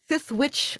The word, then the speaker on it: Sithwitch: And, it's Sithwitch like Star Wars.